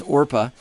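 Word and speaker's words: Orpah: And um you're thinking of Oprah. I always want to say Oprah, man. It's Orpa and Ruth.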